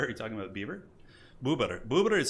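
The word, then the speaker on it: bóbr: Yeah, buber. That's how you say beaver in Polish.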